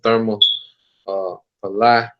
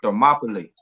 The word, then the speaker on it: Thermopylae: So I'm gonna get the war of Therma Palai, if I'm saying it right. But You say it's called Thermopylae.